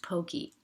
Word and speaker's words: poke: how do you pronounced Pokey I pronounce it Pokey um I know that like the in the Hawaiian language the e sound is pronounced a um and so I